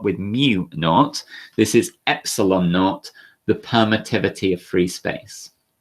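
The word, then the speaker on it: ε₀: a new symbol it's called epsilon naught or epsilon zero but it's usually pronounced epsilon naught um and epsilon naught is the permittivity got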